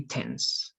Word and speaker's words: tense: practice this one remember if you have an e at the end of the word the last e is silent okay it's always silent so it's going to be tense okay sense is time